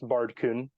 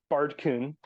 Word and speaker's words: Baerdcyn: But it's it's pronounced, for the people wondering, it is pronounced Baerdcyn. The AE was supposed to be one of those like A backwards E diphthong sort of things. But my keyboard at the time just didn't have it. So I was like, oh, okay, AE it is. And then from there, the Y in Old English is pronounced like ew, and ew, that's gross. So it's Baerdcyn.